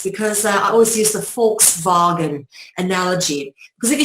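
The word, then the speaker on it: Volkswagen: say vog wagon but if you say it like a Dutchman or a German you say FKS vagen which shows you how the F and the V transliterate and how the V and the W transliterate of course in the Germanic Dutch languages the w sounds phonetically like the English V for victory okay so for the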